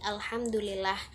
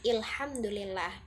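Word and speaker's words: الحمد لله: Kan biasanya kalau dalam bahasa Arab Fushah itu alif lam dibacanya al seperti alhamdulillah. Namun pada Arab Amiyah Mesir itu dibacanya il menjadi ilhamdulillah.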